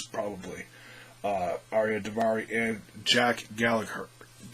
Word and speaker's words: Gallagher: In fact, both these guys probably, Aria Davari and Jack Gallagher. I always mispronounce. They always say Gallagher. They take out the G, and that's not typical of how you say that word.